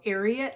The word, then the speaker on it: Ariat: is ariat um i i love how ginger marvin says chariot without the ch so ariat i believe is how you say it um this is